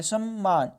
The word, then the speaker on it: सम्मान: मान सम्मान बढ़ जाएगा यहां पर देखि में आधा म लगा हुआ यह आधा म है ठीक है इसको हम लोग पढ़ेंगे पूरा म तो देखिए समान यहां पर उच्चारण में देखि सम्मान ठीक इसलिए आधा म लगा हुआ है सम्मान बढ़ जाएगा व्यापारी